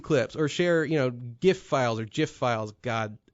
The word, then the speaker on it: GIF: It's pronounced GIF, like the peanut butter, but like you might as well be calling Pete the N-word over here.